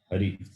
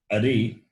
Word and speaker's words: Hari: Hari. Narayana. If it is a vowel a, Ari, Ari means enemy. So, if you change the pronunciation, the meaning will change.